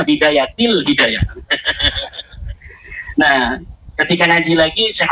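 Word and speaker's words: بداية الهداية: Kenapa ada huruf jar B katanya dibacanya bidayatul hidayah harusnya bidayatil hidayah.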